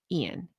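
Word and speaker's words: Iain: His name is spelled I A I N Rollinsson. And I believe they referred to him as Ian.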